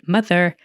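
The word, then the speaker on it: MU-TH-UR: It's spelled Muthur, I believe, Mother.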